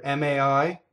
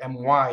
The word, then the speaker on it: mai: This does not, the next word, M-A-I, is ma-I, mai, mai. It doesn't rhyme with M-Y in English, my, like that's my car, right?